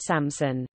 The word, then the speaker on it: Samsun: And Oanta, Greek suffix for place names, to Sam-p-s-unta, Samsunta, Samsunta, and then Samson, pronounced Samson.